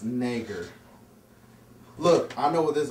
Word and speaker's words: Schwarzenegger: It's pronounced Nager.